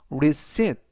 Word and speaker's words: receipt: 영수증을 영어로 receipt 라고 말하시면 되겠는데요. 이때 P는 이번 단어에서 묵음이라 발음이 되지 않습니다.